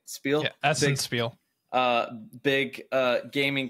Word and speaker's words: Spiel: another video but uh at Spiel right that's how you say it Spiel SPI uh big uh